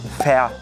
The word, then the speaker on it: fär: hier ein Blumenstrauß für dich hier ein Blumenstrauß fer dich also ü mögt ihr nicht so gern